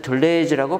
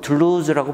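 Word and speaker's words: Deleuze: 우리말로는 외래 표기법에 따라서 둘레즈라고 발음을 합니다. 읽고 쓰고. 사실은 불어로는 둘루즈라고 발음을 합니다.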